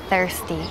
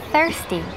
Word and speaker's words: thirsty: I am thirsty. Y con la contracción I'm thirsty. Y fíjate cómo pronunciamos la TH. Thirsty. Thirsty. Dilo conmigo. Thirsty. Pues sacando la lengua un poco y soplando.